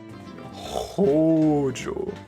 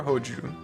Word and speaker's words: Hojo: Hojo. Is it Hojo or Hoju? You said it right the first time.